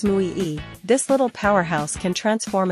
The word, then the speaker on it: muy: meaning of your words pronounced as Mu e this little Powerhouse can